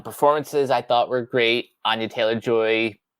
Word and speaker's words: Anya Taylor-Joy: Anya Taylor-Joy, or as she pronounces it, Anya Taylor-Joy.